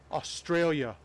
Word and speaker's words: Australia: I gotta leave the U out, but it's really hard. I like to pronounce all the letters that are there. Australia. Like that. I was going too hard on the U earlier.